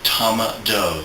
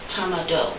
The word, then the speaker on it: Tama-Do: yeah the modality that i use is called tama do it's spelled t a m a d o it